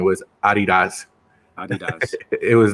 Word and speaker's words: adidas: made sure that we knew that the correct pronunciation was Adi dots it was not adidas as Adi dots that's annoying yeah okay who was well who